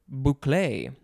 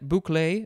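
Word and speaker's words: bouclé: top of page 146 the first word is boucle i'm gonna have to do a lot of spellings and extra pronunciations and screwing things up probably this is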